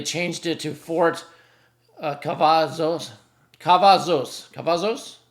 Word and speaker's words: Cavazos: Cavazos, I think you pronounce it. Cavazos.